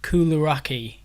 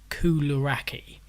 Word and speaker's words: koulouraki: But I believe the Greek word for shortbread is koulouraki, Kouloura with a little accent, Ki, koulouraki.